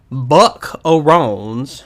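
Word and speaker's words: Buc-Arrones: These are called Buckaroons, or I guess that's how you pronounce it. It's B-U-C and then a dash, A-R-R-O-N-E-S. So Buckaroons.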